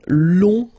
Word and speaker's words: long: So keep in mind that long, in that case, you will have to add this U and then E. Okay, so long, remember you don't pronounce the final G, will become longue.